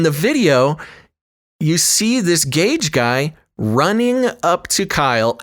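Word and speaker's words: Gaige: to pronounce his name it's spelled g g-a-i-g-e so gage gage gross krutz now this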